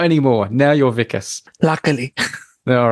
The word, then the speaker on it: Wikus: Africans they know that the W is pronounced as a v so not too often okay it's just on the unmade podcast you get called wikas yeah not anymore now you're vicus luckily all right now